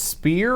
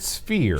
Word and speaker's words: sphere: Are you sure it's spear or is it sphere?